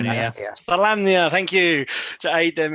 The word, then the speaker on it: Solamnia: So when he appealed to the Knights of Solomon. How do you say that? Solamnia, thank you.